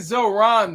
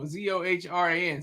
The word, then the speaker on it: Zohran: I think Zoran though. Zohran.